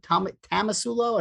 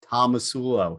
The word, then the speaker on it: Tomasulo: sudden they go hey how do i pronounce your last name it's tamala tomasulo tamasulo and i'm like no tomasulo so they usually get it after that tomasulo just like it is spelled and written yes uh so yeah